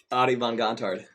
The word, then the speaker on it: Adie von Gontard: Adie von Gontard.